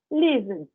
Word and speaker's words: lived: Vou colocar um som de D, vai ficar lived, lived, lived. Vou colocar um D mudo aí no final, na minha pronúncia. Tudo bem?